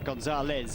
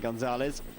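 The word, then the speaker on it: González: And in South America, for those, I'm not saying my pronunciation is particularly good, but in South America, the Z gets pronounced as a Z, Gonzalez, as opposed to Castilian Spanish.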